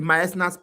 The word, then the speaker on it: Meissner: The myasnas plexus. I usually call it submyasna. So that I can remember, because in the exam they can tell you submucosa, they can tell you myasna. Myasna is spelled MEISSNER.